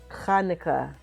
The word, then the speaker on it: Hanukkah: Hanukkah. There we go. Say it right. If you want to impress your Jewish friends, say Hanukkah with a cha.